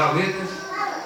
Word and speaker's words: Alethea: É o grupo Aleda, a pronúncia às vezes se difere um pouco. É Aleda, que é uma palavra grega, né?